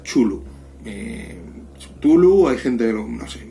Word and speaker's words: Cthulhu: El Círculo Lovecraft pues fueron los que más o menos fueron creando los mitos de Cthulhu.